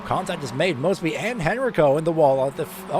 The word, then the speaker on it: Henrico: Mosby up to P13, and Henrico, not Heinricho, Henrico, apologies for mispronunciation, Henrico is now P14.